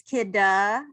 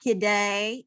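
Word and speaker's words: Kidde: How is this pronounced? It is Kidda. It is not Kidday. It is not kid or kiddie.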